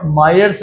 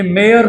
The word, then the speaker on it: Myers: ये मेयर नहीं है, ये Myers relation है। अभी पता नहीं लोग कैसा कैसा प्रोनाउंस करते हैं, कोई मेयर बोलता है, कोई Myers बोलता है, whatever it is, okay, it's not मेयर।